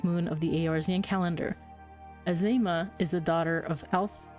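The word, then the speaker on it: Azeyma: Azema. I keep wanting to pronounce it as Azemia.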